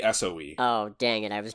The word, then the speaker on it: SOE: I assume this would be pronounced so. No, it would just be SOE.